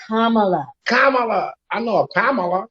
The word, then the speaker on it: Kamala: Kalama and Kalama. What's her name? Kalama. Really? That's how you pronounce it? I don't know her name. Kamala.